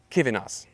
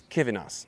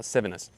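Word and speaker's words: Civinas: That's not that's not uh Civus. It's Kvenas. It's Kivven, not not Civus.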